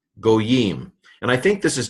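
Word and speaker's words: גּוֹיִם: So gimel, cholam vav, so that's a long O, yod, hirik, final mem, goyim.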